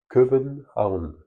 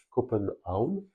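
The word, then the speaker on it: København: Copenhague est la façon dont on prononce le nom en français, mais lorsque vous le lisez et que vous voulez le prononcer à la danoise, c'est Köbenhavn. Alors pour ceux qui ont fait de l'allemand, c'est assez facile à comprendre cette appellation euh, Kopenhavn. Kopen, c'est comme kaufen, c'est-à-dire acheter, et puis Haun, c'est le port, hein, der Hafen.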